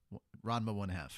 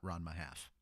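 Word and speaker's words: Ranma ½: Ranma 1/2. It's not Ranma half. Same thing. No, it's not. These are semantics. Yes, No, it is. they are not. No, that's the actual Sure. pronunciation of the title.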